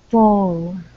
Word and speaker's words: four: Four. Okay, curve that tongue up for the R sound.